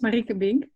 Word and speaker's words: Marieke Bink: My name is Marieke Bink. You pronounce it pretty well, though. Marieke Bink.